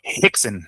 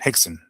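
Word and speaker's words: Rickson: No, Hixon. Hixon. I mean, they all start with a with a letter R, but it's pronounced with an H, right? But it's it's Hixon.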